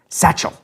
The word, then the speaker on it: satchel: حرف "t" في كلمة "satchel". لا أريد حقيقة توكيد حرف "t"، لذا شاهدني وأنا أنطق الكلمة. Satchel. نطقت حرف "t" سريعًا.